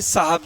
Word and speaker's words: साहब: लोग आपने सुना होगा जो पहाड़ी लोग होते हैं वो शब जी शब जी ऐसे बोलते हैं बचारे बब जी बब जी क्योंकि उनको उनका उच्चारण ऐसा ही है व श बोलते हैं जबकि शब में सपेरा कासा होता है तो होना चाहिए साहब जी साहब साब होना चाहिए